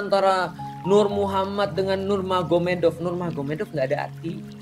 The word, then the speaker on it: Magomed: Jadi tulisnya Magomed, tapi bacanya Mahomet, kan gitu kan ya.